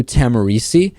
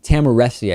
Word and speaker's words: Tahmooressi: us marine sergeant Andrew tamari who has been in a Mexican prison since March 31st tamari was arrested or or maybe it's tamesi tamesi I think is the correct pronunciation he was arrested by